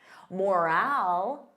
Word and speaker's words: morale: Morale, repeat after me, morale. So notice that long al, morale, morale.